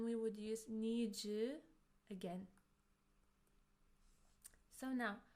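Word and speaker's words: の: It's pronounced as no and it shows that something belongs to someone.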